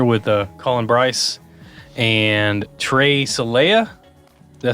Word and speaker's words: Celaya: We're here with Collin, Brice, and Trey, Celaya.